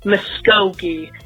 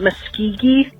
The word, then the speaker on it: Muskogee: be in the state of Oklahoma and it's pronounced Muskogee in the West kog EE not Muskegon that oh did I say miss Keegan or